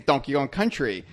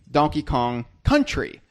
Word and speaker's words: Donkey Kong Country: even means it's because the way we say it is donkey on country but it we should be pronouncing it or enunciating it or emphasizing it as Donkey Kong Country you know because it's